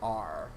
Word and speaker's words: Neewer: And the lighting system that I use is done by, I think it's pronounced Neewer? It's Neewer.